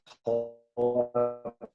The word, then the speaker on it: Cholewa: Yeah, I'm an associate professor. It's Polish. No one ever gets it. And if you go to Poland, it's pronounced Cholewa.